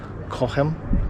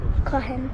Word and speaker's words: Cochem: So our first stop is Cochem, which I guess is the English way of saying it, and I think in German it's Cochem. Cochem.